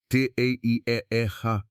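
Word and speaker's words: terra preta: It is called tea pronounced te a eeta which means in Portuguese black earth and it is one of the most extraordinary human inventions you have never heard of.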